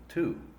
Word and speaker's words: to: The dictionary pronunciation is to. The first thing to notice is that this long U sound, even in its formal dictionary pronunciation, is not exactly the same sound as the sound in the word tú in Spanish.